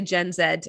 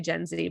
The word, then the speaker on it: Gen Z: know millennial and and i say gen zed i guess americans say gen city but whatever um uh